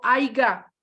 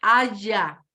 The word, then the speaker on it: haya: O sea, no es una palabra que existe como tal del verbo haber, es haya, no aiga.